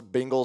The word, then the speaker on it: Bengals: You're saying Bengals, like Bing Crosby.